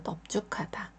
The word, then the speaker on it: 넓죽하다: 받침이 소리가 나서 넓적하다 세 번째 글자는 하다입니다 여기서도 릴을 받치면 소리가 나지 않고요 비읍 받침만 소리가납니다 그래서 넓죽하다 세 글자는 외워 주시면